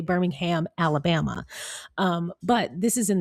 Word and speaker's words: Birmingham: And yes, you would emphasize, I don't know about emphasize, but you would pronounce the ham in that Birmingham. But Birmingham, England, it's kind of all together.